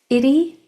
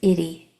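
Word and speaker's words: -ity: And it's spelled I-T-Y. The I follows the tap 2 rule, the confident rule, excuse me, because it's in the middle syllable, so it's going to make it short sound. And then the Y at the end of words usually makes the long E sound at the end of longer words.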